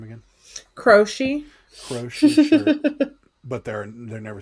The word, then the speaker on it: Croce: Look for a Jim, how do you pronounce his name again? Crochet.